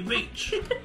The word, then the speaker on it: Vicc: You go with Vicc, I'll go with Vic. We'll just... Yeah, I feel like it's going to be Vic and then I'm going to be upset because I'm like, it should be Vicc, the way it's spelled.